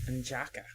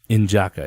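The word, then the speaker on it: N'Jadaka: I think his name was N'Jaka. Injaka, yeah. Aha. Injaka. They don't pronounce the D. Unjaka.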